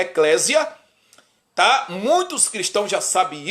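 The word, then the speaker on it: ἐκκλησία: grego hebraico aramaico eo grego se pronuncia a eclésia tá muitos cristãos já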